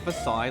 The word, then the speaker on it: Versailles: Is it Versailles, like Versailles, I said? just Oh, like really? the one in Paris. So is it named after the one in Paris?